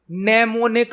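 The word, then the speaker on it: mnemonic: है assembly language में name निक code उसे किया जाते हैं निमोनिक कोड आपसे पूछा जा सकता है किस लैंग्वेज में नेम ने कोड उसे किया जाते हैं एम साइलेंट होता है नमूने को उसे होते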